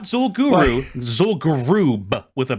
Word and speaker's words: Zul'Gurub: Zul'Gurub with a B on the end. How do you spell that's that?